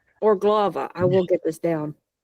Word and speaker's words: Urglaawe: orava or gloava. I will get this down. You're getting there. or I tend to put the the stress on the u that the first syllable is usually stressed or so or um